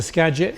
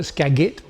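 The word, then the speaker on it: Skagit: The Scadget is pronounced Scadget. A lot of people call it Scaggit for some reason.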